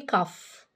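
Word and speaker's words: cough: بتعمل ايه بتكح يبقى كحه يعني كف والجي والاتش هنا بتنطق كف طيب هنا البنت دي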